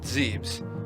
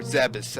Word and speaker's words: Zebes: cutscene and land on Planet Zebes or zabis however you want to pronounce I pronounced zebes cuz it just seems right to pay that way so I I did